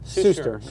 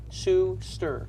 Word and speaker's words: Suster: Did I pronounce it right? Suster, yeah. Suster.